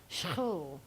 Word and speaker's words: Schoorl: So my maiden name is, and then I married the great love of my life, Louis, who has a Dutch surname, which is pronounced Schoorl.